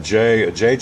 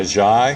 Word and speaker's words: Ajayi: game up there against them the first time, JG, is that it? Jay Ajayi. Ajayi? Okay, I mispronounced it.